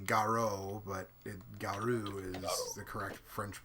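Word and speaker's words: Garou: G a ro you the U is an extension of the Oh sound in Japanese so it they would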